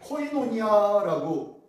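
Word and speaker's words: κοινωνία: 헬라어로 코이노니아라고 읽습니다. 한번 따라합니다. 코이노니아.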